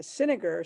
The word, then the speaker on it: Sinniger: the last name is cinegar so it rhymes with vinegar okay thank you very